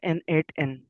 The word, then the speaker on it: n8n: तो सबसे पहले यह प्रोनाउंस किया जाता है एन एट एन।